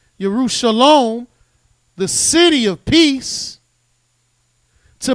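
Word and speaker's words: ירושלים: You've been carried from Jerusalem, which is pronounced Yerushalom, the city of peace, to Babylon, the city of confusion, which is not peace.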